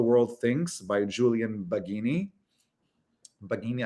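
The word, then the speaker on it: Baggini: Bagini, I think, is how you pronounce his last name.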